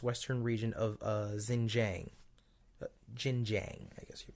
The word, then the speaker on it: Xinjiang: its western region of Xinjiang. Xinjiang, I guess you pronounce. No, X is a ch sound, right? So Xinjiang.